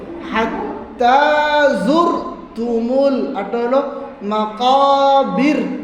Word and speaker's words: المقابر: আটটা হলো মাকাবির, টান নাই, বীর টান এরকম হবে না, মাকাবির।